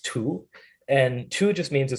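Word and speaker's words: 荼: cha before that the character for t is pronounced tu and tu just means a certain kind of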